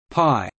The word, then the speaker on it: pi: para metros meaning circumference in English pi is pronounced as pi py in mathematical use the lowercase letter pi